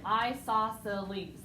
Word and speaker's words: isosceles: the second thing is isosceles and if you look at this it's you say it just like it's spelled i saw silly and isosceles triangle has